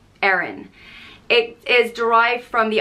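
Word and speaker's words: Erin: itself it is Aaron it is spelled e-r-i-n unpronounced Aaron it is derived from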